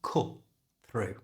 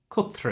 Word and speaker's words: cut through: with a T sound we don't need to pronounce the first one so cut through becomes cut through and at a normal speed cut through it should sound like